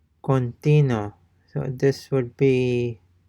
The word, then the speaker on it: continuo: continuo, continuo, And notice that the U is not pronounced, or even the sound of the U is not discernible.